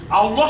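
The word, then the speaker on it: الله: এই লাম অক্ষরটা শুধু আল্লাহ শব্দের ক্ষেত্রেই এটা উচ্চারণের একটা স্পেশালিটি একটা বিশেষত্ব আছে এখানে লেখা আছে আল্লাহু আকবার আল্লাহ শব্দের মধ্যে আপনারা দুটো লাম দেখতে পাবেন পাচ্ছেন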